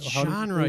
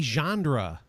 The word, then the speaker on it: genre: genre of genre Gingrey what genre you said it right the first time dang it well you always make fun of me Bob because usually you say Chandra there's no D there's nobody you okay